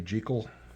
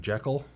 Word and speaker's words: Jekyll: Hyde, which a lot of Americans call him Jekyll, but if you do the Scottish pronunciation, I can't even pronounce that pronunciation, it's Jekyll, so it's Jekyll and Hyde.